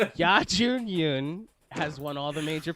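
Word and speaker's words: Youn Yuh-jung: Yoo Jun Young. Ya Jun Yun. Ya. So close. Yeah. Y-U-H. Ya. That's how they pronounce it. It's a different language. Yes.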